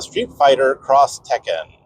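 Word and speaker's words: Street Fighter X Tekken: But next up is Street Fighter Cross Tekken. At least I think that's how you say it, because it's spelled so Street Fighter, and then it has an X, and then Tekken.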